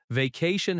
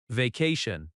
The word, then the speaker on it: vacation: Vacation has stress on the second syllable. Va-ca-ce. That ca sound is strong. Vacation.